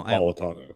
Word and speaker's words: Napolitano: Napolitano. Thank you. God damn, I always say his fucking name wrong.